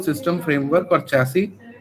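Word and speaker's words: chassis: To system framework और चैसी टू, इसको चैसिस नहीं, हमेशा इसको प्रोनाउंस करते हैं चैसी, ठीक है। लास्ट में जो आगे एस है वो साइलेंट है।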